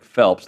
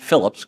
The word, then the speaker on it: Phelps: Let's uh talk about Zer Phelps not Phillips a few times on the broadcast I don't get it's like he's played four years of college basketball how are National announcers mispronouncing his last name Zurich Phelps who was